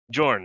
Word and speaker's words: Jorn: Is it Yorin? Did I pronounce Jorn. that wrong? Jorn, that's right.